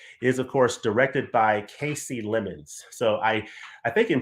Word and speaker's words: Kasi Lemmons: a film that is of course directed by Casey lemons so I I think in previous View in previous videos I called her Cassie lemons and then in going through the special features